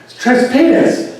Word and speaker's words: Tres Pinos: The place south of there is Tres Pinos. That's what it's called. That's how it's pronounced.